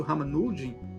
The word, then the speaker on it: Ramanujan: Mas, a priori, inicialmente, o Ramanujan, né, pronuncia dessa forma, ele recebia visões, né, de uma entidade indiana, e ele conseguia fazer teoremas complexos do conhecimento matemático.